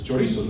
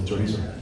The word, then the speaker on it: chorizo: And they said, in Chinese, they said, "This is chorizo," which chorizo is a Spanish word, right? For little chorizo. And they said, "It's not chorizo, it's chorizo."